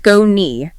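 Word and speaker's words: Skoni: That's spelled S K O N I pronounced sconei.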